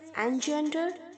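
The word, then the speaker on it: engender: चाहे आप उसे EN के साथ प्रोनाउंस करें एनजेंडर, या बिना EN के साथ प्रोनाउंस करें तो भी जेंडर, ओके। दोनों सूरतों में जेंडर ही प्रोनाउंस होगा।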